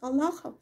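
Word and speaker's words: الله: Аллахи, клянусь Аллахом, значение под Аллахом, значение подтверждения. Так же, как и в слове Аллах, Бог, Аллах. Здесь произносится твердо Аллах.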